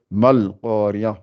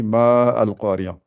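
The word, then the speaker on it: ما القرية: Donc ça fait mal qariya. On dit pas ma'al. Si c'était à lire, on aurait dit ma'al qariya. Mais là, on dit mal qariya.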